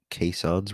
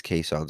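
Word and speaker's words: caisson: during the construction of both of these Bridges kons were used which I had mentioned um at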